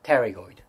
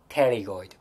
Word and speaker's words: pterygoid: This is medial pterygoid. Medial pterygoid. You don't pronunciate the first P letter. It's really a bit tricky, right? Medial pterygoid.